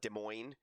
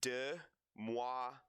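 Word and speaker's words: de Moivre: so uh it's it's some people call it De Moine or de but it's it's uh if I can try to pronounce it correctly here it's du MUA de theorem so that's what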